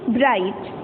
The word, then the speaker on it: bright: GH जो है ना, ये साइलेंट है, इसको हम नहीं बोलेंगे। तो बाकी वर्ड, अगर GH को हम नहीं बोलेंगे तो बाकी वर्ड को क्या बोलेंगे? BRIT, ब्राइट। GH साइलेंट है, इसको नहीं पढ़ना।